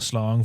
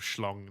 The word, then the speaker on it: schlong: Would you take a jellyfish sting on the slong for a tenner? It's interesting pronunciation of schlong that you went for there. Schlong? Slong, you called it. I didn't put the H in it.